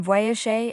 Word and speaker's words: voyager: The G in voyager is soft because it's followed by E and sounds like the S in pleasure or vision.